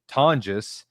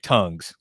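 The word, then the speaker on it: Tonges: His name is Jake Tongis uh who Brad proudly pronounced earlier as uh Jake Tongues.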